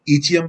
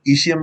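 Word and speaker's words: ischium: इसको ईचियम भी बोलते हैं, इसको ईशियम भी बोलते हैं, अलग अलग तरह से प्रोनाउंसिएट करते हैं लोग इसको।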